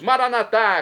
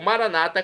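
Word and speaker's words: Maranatha: aramaico dialeto de Jesus maranat como dizemos nós católicos ou Maranata como dizem nossos irmãos separados os evangélicos ou protestantes não importa pronúncia o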